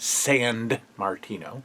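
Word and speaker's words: Sammartino: is a good figure bruno sand martino that's right sand martino that's how you say it uh against ted dibiase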